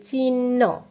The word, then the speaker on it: চিহ্ন: যেমন ধরো, এর উচ্চারণটা আমরা বলি চিহ্ন, চিহ্ন, কিন্তু এর উচ্চারণ চিহ্ন না। এর সঠিক উচ্চারণ হচ্ছে চিহ্ন, চৈরশিকার চি, হ সংযুক্ত দন্তন্য না, দন্তন্য সংযুক্ত হ। তাহলে চরিশিকার চি, দন্তন্য হ, চিহ্ন।